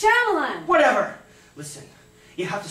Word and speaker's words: Shyamalan: Night Schmaltz. Shyamalan. It's pronounced Shyamalan.